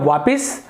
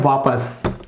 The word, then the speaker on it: वापस: इसे हम लिखते हैं वापस ये जो वापिस है वो अशुद्ध है यहां पर आएगा वापस उसी प्रकार से दुख